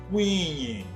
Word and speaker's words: kwinhi: O número 10 podemos pronunciar de duas formas, com o prefixo di ou sem o prefixo di. Com o prefixo di fica da seguinte forma: Dikwinyi. Sem o prefixo fica da seguinte forma: Kwinyi.